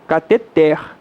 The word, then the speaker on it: cateter: não pergunta a lidar perguntou se cateter cateter também na verdade não existe a pronúncia correta oxítona cateter masseter o eterno totalmente